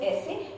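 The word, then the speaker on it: ese: Next word is S, which pronounced as eh-seh. This is a straightforward like English S.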